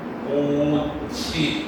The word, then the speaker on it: 꽃이: 겁니다 예를 들어 가지고 꽃이 같은 경우에는 꽃 플러 2가 청직 형태 소자다 어은 조사가 그럼 어떻게 발음하는 거야 꼬치 이렇게 뒤로 옮겨서 응하는 거지 예 들면 닭 같은